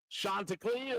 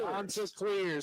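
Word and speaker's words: Chanticleer: Shanta Clear. Shanta Clear.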